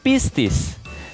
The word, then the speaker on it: Pistis: the answer shall we now the dog's name is pronounced as busis there is a powerful